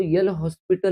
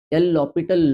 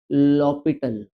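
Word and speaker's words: L'Hôpital: Using लॉटल अब बहुत लोग बोलेंगे यह तो एल हॉस्पिटल लॉ है। आपने तो हॉस्पिटल नहीं यहां पर एच साइलेंट है। एल लोपिटल लॉ बोलते हैं। कोई आपको अनपढ़ ना समझे। इसको क्या बोलते हैं? लोपिटल ध्यान में रख।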